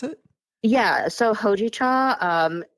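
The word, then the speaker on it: hojicha: tea right can you tell me how to pronounce it yeah so hoi cha um it's a roasted green tea like you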